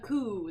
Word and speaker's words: coup: The coup, that's how that's pronounced, by the way, for anyone who doesn't know that.